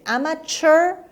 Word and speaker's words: amateur: amateur amateur hot mini a mature or amateur both pronunciations are accepted and correct a